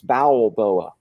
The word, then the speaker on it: Balboa: see Cy B booa you gotta spell it right though man it's bowel like your bowels bowel boa uh but very close